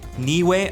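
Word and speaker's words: Niue: So, on the Pacific Ocean on Polynia, New Zealand, Niway, I hope I'm saying that correctly. It's spelled N I U.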